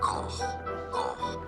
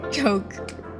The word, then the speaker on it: Koch: Said because there are different pronunciations, and perhaps it is because it comes from German, and in German it's said as Koch.